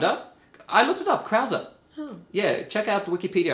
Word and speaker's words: Krause: I looked it up, Krause. Oh. Yeah, check out Wikipedia. I looked up the pronunciation.